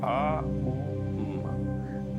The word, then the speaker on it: ओम: ओम ऊ से नहीं होता, आ ऊ म, ऐसे इसका उच्चारण होता है।